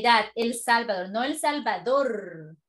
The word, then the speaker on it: El Salvador: El Salvador. No El Salvador. Con el acento en la última, no en la primera.